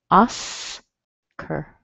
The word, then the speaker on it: Oscar: We have a short O, which sounds like ah, Oscar, Oscar, Oscar. Yeah, so if you have this name Oscar in your native language, for example, in maybe in Spanish it would be like Oscar. It sounds quite different in English, doesn't it?